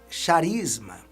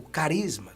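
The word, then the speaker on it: χάρισμα: espírito a palavra dom vem do grego sharisma o carisma como nós gostamos de pronunciar e dom é um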